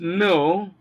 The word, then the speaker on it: know: You will find the letter K in these words, but it is not pronounced. The words include know, which is K-N-O-W, knowledge, knife, knock, new, and so on and so forth.